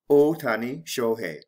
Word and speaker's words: Ohtani: is who what how shohei ohtani or in japanese ootani a famous baseball player